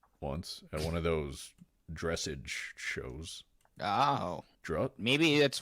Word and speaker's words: dressage: there's some up here drossage dressage he's corrects him on the pronunciation sheroot believes is